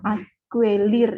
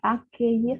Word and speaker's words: accueillir: Nah, kemudian tadi kan baru dijelaskan yang akuelir itu dibaca accueillir. Mengapa U-nya tidak dibunyikan? Karena di dalam bahasa Prancis tidak mengenal sistem bunyi dua vokal, jadi nggak mungkin ue gitu, nggak mungkin, nggak